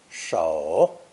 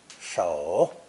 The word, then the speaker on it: 守: This new character is pronounced third tone, 手, 手, and means to hold